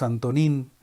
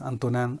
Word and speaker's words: Antonin: En América Latina decimos Antonín, porque así se escribe, Antonín Artaud, pero entonces tendríamos que decir Antonín Artaud. Lo voy a leer como lo leen los franceses, Antonin Artaud.